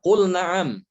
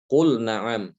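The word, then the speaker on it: قُلْ نَعَمْ: Di sini pun juga dibacanya dengan idhar. Tidak boleh dibaca qul na'am. Salah, ya. Bukan qul na'am tapi qul na'am. Lamnya dibaca idhar, tidak boleh diidghamkan kepada nun.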